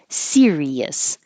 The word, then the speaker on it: Sirius: practiced here it is series versus Sirius so Sirius has three syllables stress on the first syllable like sunflower serious sunflower that's a serious